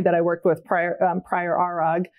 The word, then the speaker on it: ARAG: And I was so fortunate so the company that I worked with prior Arag is how you pronounce it. It's a good German name, was incredibly supportive of that.